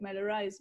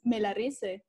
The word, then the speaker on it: Melarise: pronounce it and in in english it sounds good it's like mellow rice but in spanish it's melarise and people is like